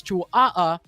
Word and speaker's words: Chihuahua: And also, I want to give a huge shout out to Ayapi as well for correcting the pronunciation of their teams. It's Chihuahua that's coming in from the Philippines.